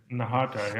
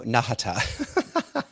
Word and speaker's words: Nahata: Nahata, I yeah, feel like it's a short right? So Nahata.